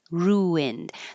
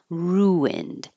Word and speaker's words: ruined: Um, when your lips go from a rounded sound like ooh to an unrounded sound like I ru ruined, then a w should appear naturally. Ruined. And it doesn't have to be perfectly like two syllables. Ruined. But I wrote it that way to remember that you're making a change.